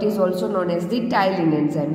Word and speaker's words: ptyalin: also known as the ptyalin enzyme. Here P is silent, so its pronunciation is ptyalin.